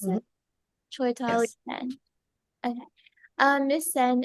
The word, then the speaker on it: Chaitali: Is that how you pronounce Mhm. it? Chaitali Yes.